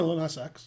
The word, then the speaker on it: Lil Nas X: Is that saying it right? Yeah, Lil Nas X.